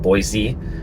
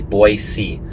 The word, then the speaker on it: Boise: visit, they call it Boise. Boise, and people know you're not from here whenever you say that. So if you do come here, it's pronounced Boy, like B-O-Y, and then S-E-E, Boise.